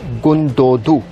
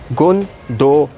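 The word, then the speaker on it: Gündoğdu: going to discuss him the second son is goon doe - that's how should you to pronounce him goon Doh - the second son is a troll and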